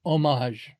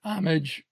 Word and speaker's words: homage: Park, you can pay homage to some of America's aviation pioneers, including the legendary Wright brothers. Properly, homage, since it's French. The Americanized homage is marginally acceptable, but never homage.